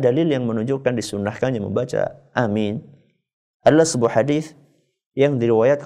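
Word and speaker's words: آمين: kita membaca kata Yasin nah Amin ukuran panjangnya a sama minnya itu seperti kita membaca Yasin ya berapa harakat Ustaz kalau Yaya ya itu dibacanya dua harakat Sin en harakat berarti kesimpulannya Pak A dua harakat Min en harakat Jadi gimana Ustaz Amin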